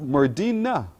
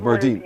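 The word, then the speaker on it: Merdene: Wait, Merdina? No, not A. Merdine. It's pronounced Merdine.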